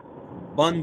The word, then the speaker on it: bon: bon matin is actually bon matin. Yeah. Well, in French, the O and the N sound on. Oh. So you don't pronounce the N in that case.